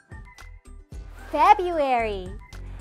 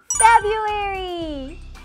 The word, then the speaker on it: February: February. 2월 달은 February. There's so much love. February. F, F, F. February. 스펠링은 B 뒤에 R 있지만 발음할 때는 없이 발음해도 괜찮아요.